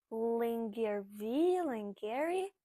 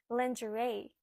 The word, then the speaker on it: lingerie: Lingerie? No, lingerie.